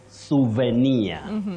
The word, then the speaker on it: souvenir: that Willis oh bet that word is from French and you say souvenir souvenir in English souvenir